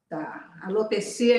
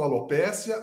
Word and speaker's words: alopecia: tudo a mesma coisa alopecia então é a pronúncia correta certo a pessoas que falam alopécia outra forma alopecia também aceitamos de tudo tá certo